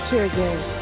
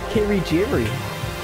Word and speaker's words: Kirigiri: My name is Kyoko Kirigiri. I have been pronouncing up wrong the whole time. I thought it was Kirigiri. That's how they pronounce it in the anime.